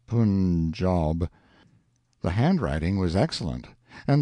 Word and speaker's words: Punjab: day from the Punjab you must pronounce it Punjab the handwriting was excellent